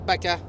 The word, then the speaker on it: vaca: Le V en espagnol, c'est dit B. Ah! OK. Ah, Fait que le Tu veux? B, fait qu'une vache, c'est Bacchus. Ça Bacchus. s'écrit V-A-C-A, mais tu vas dire Baca.